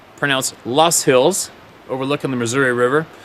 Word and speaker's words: Loess: Fast forward to January 2020, southwest Iowa, in the Loess Hills, pronounced Loess Hills, overlooking the Missouri River.